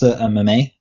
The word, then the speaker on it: meme: Sorry, Luke, it's pronounced meme.